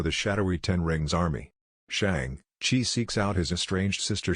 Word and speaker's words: Shang-Chi: revealing to her that his real name's actually shang chi pronounced like sean with an extra g and he was raised